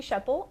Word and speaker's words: Schoeppel: sure everything's spelled okay my name is sheppell and that is spelled c-h-a-c-e-y s c h o e p